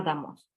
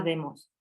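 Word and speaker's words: δῆμος: por poner un ejemplo la palabra que significa pueblo se pronunciaba damos en el dialecto ático al final jónico la misma palabra se pronunciaba demos y puesto que el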